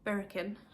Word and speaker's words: Birichen: It's not really pronounced like it's spelt. I mean, and I know a lot of people have messaged me saying, how do you pronounce this? So I'll put it phonetically on the screen. It's the Birichen.